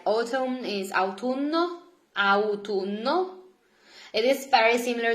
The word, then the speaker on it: autunno: And then here I give you more seasons, like autumn is autunno, autunno. It is very similar to English. Just remember that in Italian we pronounce all letters, so it's not autunno, it's autunno.